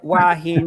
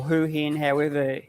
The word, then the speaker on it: Hua Hin: So down here, Hua Hin or Hu Hin, whatever side of the track that you're born on as to how you pronounce it, but Hua Hin, areas